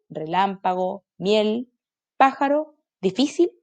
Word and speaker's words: difícil: Y esto sería última sílaba, porque es cortita. Pájaro, pájaro. Última, penúltima, antepenúltima. ¿Dónde se carga la voz? Antepenúltima. Difícil, difícil.